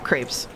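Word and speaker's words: crêpes: Mouse pronounces creps, too. When they put when they put an accent on the E, I'll pronounce it crepes.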